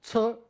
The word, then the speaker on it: 輋: up in the dictionary, you'll find it's also pronounced as 'she' in Mandarin So to help differentiate which character I'm talking about, I'll read this one as 'che' So one is 'she'[畲], the other one is 'che'[輋] 'Dong' is another good